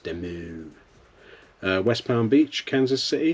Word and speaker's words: Des Moines: Des Moines, that's a good name. I always like the name Des Moines. Is that how it's pronounced? It's probably pronounced Demu.